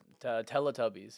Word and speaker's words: Teletubbies: Actually, I have something like like I hated the Teletubis, how do you pronounce Teletubbies? Teletubbies.